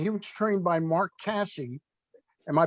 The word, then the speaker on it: Casse: And he was trained by Mark Casse. Am I pronouncing the last name correct?